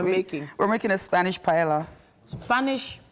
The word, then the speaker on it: paella: We're making a Spanish paella. Spanish paella. It's like a... No. P-A-E-L-L-A, if I'm not mistaken. Paella? Yes. So it's like a pie with Ella? No. Paella.